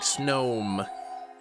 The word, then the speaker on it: Snom: You pronounce Snom like gnome, like snome.